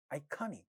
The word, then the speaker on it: iconic: Iconic, ka sound in this stressed syllable is getting aspirated in the word iconic.